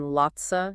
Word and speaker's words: lots of: of you mean how they're often pronounced as kinda sorta and Lotsa in casual speech it's important for English